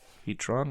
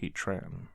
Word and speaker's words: Heatran: is heatron metal type heatron or Heatran yeah it has an a not o well the movie I